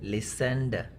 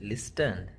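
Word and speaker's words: listened: And third word is लिसेंड. टी is silent hair. You कैन not pronounce it like this, लिस्टन. That is wrong.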